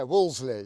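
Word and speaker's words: Wolseley: But it's Wsley, isn't it? Yeah. Woosley. Yeah. Like the club in London.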